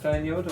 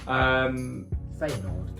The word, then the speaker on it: Feyenoord: It like, reminds me of like Fernjord or how you say it? Feyenoord.